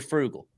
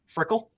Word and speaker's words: frugal: be kind of creative you're frugal frickle you're frugal Frugal there it is you see I've been saying it wrong for two years I've